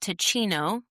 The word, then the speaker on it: Teecino: My next one is a warm drink, and it's called Ticino. It's spelled Teecino, and it's an herbal coffee.